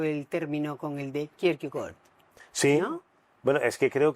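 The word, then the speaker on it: Kierkegaard: ¿Cómo se pronuncia correctamente Ricardo Kirkegar? Kirkegor. Ajá. O sea, Soren Kirkegor.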